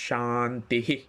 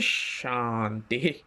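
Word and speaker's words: শান্তিঃ: কারণে ওইখানের যে বিসর্গটা সেই বিসর্গটা আপনি সাধারণ বিসর্গের মতই উচ্চারণ করবেন কিরকম করে আপনি আরেকবার ওম শান্তি শান্তি শান্তিহি ঠিক আছে ওম শান্তি শান্তি শান্তিহি ঠিক আছে এটা হচ্ছে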